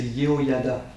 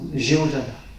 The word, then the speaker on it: Yehoyada: l'autel, on dit que son père c'est Yehoyada. Bon, en français ça se prononce Jéhojada.